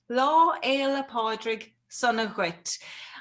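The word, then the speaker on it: Lá Fhéile Pádraig sona duit: Lá Éile Pádraig Sunna Ghuit. I have spelled it out phonetically as well.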